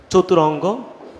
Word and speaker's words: চতুরঙ্গ: যারা যারা খ দিয়েছ একদম সঠিক উত্তর দিয়েছ ভাইয়া, চতুরঙ্গ। এই যে ভাইয়া অনেকে এটা বুঝবেন, এই রয়ের ভিতরে একটা অ আছে, এটা উচ্চারণে তোমাদেরকে পড়ানো হবে উচ্চারণের সময়।